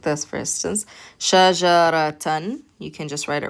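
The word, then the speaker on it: شجرةً: But because we have the fathatain on top, we pronounce it shajaratan.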